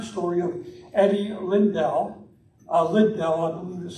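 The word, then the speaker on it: Liddell: true story inspiring story of eddie lindell uh lib dell and this how you pronounce it and during the 1924 olympics he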